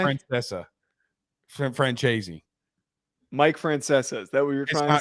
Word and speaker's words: Francesa: this another another great it's not how he pronounces it yes it is it's Francesa you want to make a